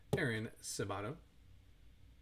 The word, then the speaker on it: Aaron Sabato: Aaron Sabato.